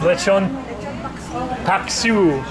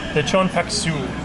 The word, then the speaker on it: Lechon Paksiw: Lechon Paksiw. Paksiw. Yes. Lechon Paksiw.